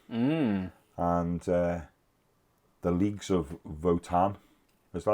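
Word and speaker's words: Votann: and the Leagues of Votan.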